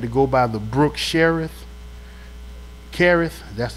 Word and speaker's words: Cherith: When he had to go by the brook Cherith, that's how you pronounce it.